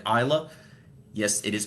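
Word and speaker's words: Islay: A little bit more on the ISA like Isa. Yes, it is pronounced Isa.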